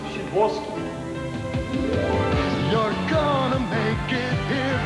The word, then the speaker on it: Sadowski: Pronounced Shidwolski.